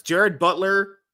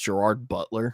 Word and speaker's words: Gerard Butler: first one it starts Jared Butler Pablo scriber Curtis 50 Cent really Jackson she just really mispronounced Gerard Butler what the said Gerard Butler you de you said Jared Butler did I say Jared